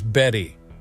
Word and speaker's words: Bette: but here's something funny bet Davis pronounced her name as Betty while bet Midler's name